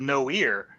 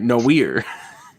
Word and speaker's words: noir: And you'll notice that I pronounced it correctly this time instead of no ear. I'm Right. getting smarter. Right, noir.